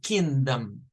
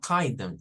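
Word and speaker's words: kingdom: kind it's not I it's kingom kingom not Kindom it's kingom for this word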